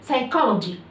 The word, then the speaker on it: psychology: زي كلمة psychology. psychology يعني علم النفس. كلمة psychology على فكرة بتبدأ بالبي بس مش بنطقها، بتبقى بالشكل ده كده. دي واي بتبقى بالشكل ده ما بنطقش البي، بقول على طول psychology psychology.